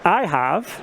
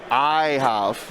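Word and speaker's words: Ahhav: It is IHOV. IHOV. Like IHOP? Like IHOP. Okay. It is like IHOP.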